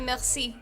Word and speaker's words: merci: And actually, merci also has that kind of like, you hear it? It's just like you like catch your tongue in the back of your mouth to make like an R sort of sound.